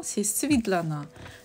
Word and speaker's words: Svitlana: En russe, c'est Svetlana, ça s'écrit avec E. Et en ukrainien, c'est Svitlana. Donc moi, comme je suis ukrainienne, donc ça se prononce Svitlana.